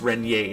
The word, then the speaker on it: Renier: It's pronounced Renier, and I will try like heck to pronounce it right from now on.